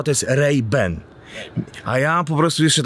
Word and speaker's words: Ray-Ban: właśnie bo powinno prawdziwy prawidłowa wymowa treiben a ja po prostu